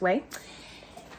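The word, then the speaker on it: OUAI: was for the brand way o-u-a-i it's pronounced way and it is a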